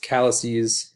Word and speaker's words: calyces: And then this word is actually pronounced calyces.